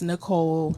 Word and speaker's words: Nichole: in there and o l e no it's Nicole not natural yeah spell it respelling it neutral or I've actually had